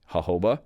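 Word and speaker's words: jojoba: factors, you just use something like a organic hoba oil. Actually pronounced hoba but spelled jajjoba.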